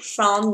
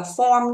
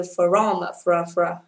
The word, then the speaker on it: from: Đấy ạ, các bạn nhớ cho cô từ là từ from, không đọc là form nha, bởi vì lý do đây là từ from, not from.